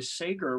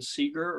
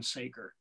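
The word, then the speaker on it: Segar: and I found out the pronunciation is actually Sager rather than Seeger or cigar even though he has a little cigar there but the family said that it's always been Saker and always been pronounced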